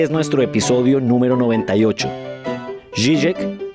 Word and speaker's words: Žižek: No le prometo que de ahí para adelante la cosa mejore o mantenga el nivel de mi pronunciación. Pero bueno, pues el señor se llama Slavoj Žižek. Žižek, sí señor.